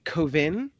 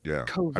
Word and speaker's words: Cauvin: There's a very French twist to it. Yeah. Yeah, it's a very disdainful. Like you're a little snotty. That last syllable in most French words has to have like disdain. So it's Cauvin.